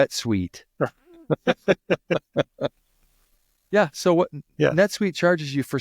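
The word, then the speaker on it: NetSuite: refresh it uh Rhymes rhymes with wet suit kind of it doesn't it doesn't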